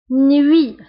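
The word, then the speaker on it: nuit: نوي. فسابقا قلت ان او اي كتقرا وي وي نوي نوي. هنا تي في اخر الكلمه لا ننطقها نوي.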